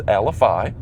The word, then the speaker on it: Alafia: The correct pronunciation is Alafia.